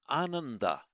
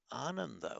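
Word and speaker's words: Ānanda: And Ananda, the disciple Ananda.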